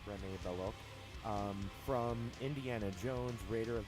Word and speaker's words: Rene Belloc: Paul Freeman, for his famed role of Rene Belloc, I believe it's pronounced Rene Belloc, from Indiana Jones, Raider of the Lost Ark, was picked to play that role.